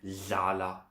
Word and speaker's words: dlala: learn these sounds is hlala for sit and dlala for play.